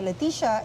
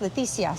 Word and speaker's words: Leticia: I used to go by Leticia in Canada, but since I'm in Mexico now, my name in Spanish is pronounced Leticia.